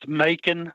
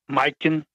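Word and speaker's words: Majke: her her name was the K would be silent and the J would be like an I sound like Mikan but here we pronounce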